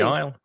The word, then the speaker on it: aisle: with that word because another silent letter we do not pronounce the s the pronunciation of isle